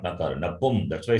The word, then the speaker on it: नपुंसक: नपुन Not napun. Nap- Napum. नपुंसक. Napum. So there is an anuswar on pu. So what do we pronounce, ga or na? Why ga? From where ga you get? So it has to be na, right? It has to be makara, not nakara.